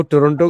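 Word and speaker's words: Toronto: मेरी मर्जी हां बिल्कुल वो टोरटो टोरटो बोलते है टोंटो की साइलेंट रहता है वो तो टोरंटो टोरंटो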